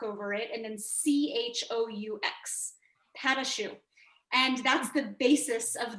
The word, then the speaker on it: pâte à choux: be making a specific kind of dough called pâte à choux. In French, it's spelled P-A-T-E and then A, I think with the funny mark over it, and then C-H-O-U-X, pâte à choux.